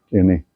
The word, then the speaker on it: Quesnay: Y del modelo de Quesnay, así se pronuncia, Quesnay, François Quesnay, se sacan dos importantes consecuencias políticas.